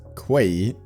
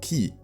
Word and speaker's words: quay: Fun fact, when I watched the video, I found out it's not pronounced quay, but uh pronounced key.